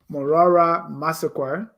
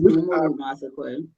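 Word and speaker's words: Momolu Massaquoi: Besolow, Morara Massaquoi, which is Momoru Massaquoi. Oh, okay. Oh, but they just spell it the way the way the people would say it.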